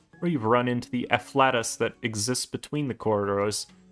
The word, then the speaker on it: afflatus: Sorry, it's pronounced afflatus.